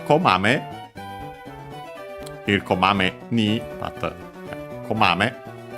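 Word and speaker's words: こまめ: Here komame ni, but komame. Komame is a na adjective, accent on the first syllable, which means diligent, earnest, attentive to detail, brisk, frequent, for example, checking.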